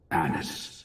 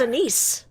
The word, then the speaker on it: Anise: And that danger's name is Anis the Witch. Anis the Witch. That's how you pronounce it. I thought it was Anise. Anis the Witch? It's Anis.